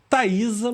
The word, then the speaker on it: Thaisa: e que pode chegar aí a lugares inimagináveis, Thaisa Muniz. É assim que se pronuncia seu nome?